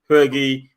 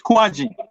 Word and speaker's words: Huagie: you is it tay fergie my surname is quite difficult to pronounce sometimes so let me correct you it's quad right it's kwaji kwaji yeah how can they